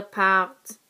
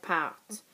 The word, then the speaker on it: partent: you do remember that these T's here in the middle should be pronounced, unlike these endings up here.